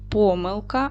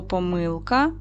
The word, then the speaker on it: помилка: Слово помилка можна наголошувати так: помилка і помилка.